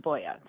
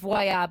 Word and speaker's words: Voie: But it's it's really Norwegian and in Norway it's spelled W I E, but it's pronounced Voya. So, it's it's very Norwegian. It's not French. Ellen Voya, who who is as fancy as she wants to be.